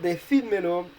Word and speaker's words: decídmelo: The fourth example, decídmelo, is like the imperative forms of tell me it. So we want the I to be stressed, so you need an accent in this case.